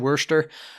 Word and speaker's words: Worcester: Phil uh Tuesday versus Worcester that's just how you pronounce it Worster uh rained out it